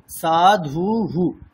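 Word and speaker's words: সাধুঃ: ঠিক যখনই উকার আসবে যেমন সাধু শব্দে সাধু তারপরে বিসর্গ আছে উকারের পরে বিসর্গ আসছে তাহলে উচ্চারণটা কেমন হবে সাধু হু তাইতো এরকম হবে বিষয়টি বোঝা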